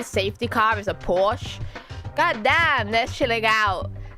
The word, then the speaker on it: Porsche: that por POS por it's Porsche I'm saying it with an R okay I mean to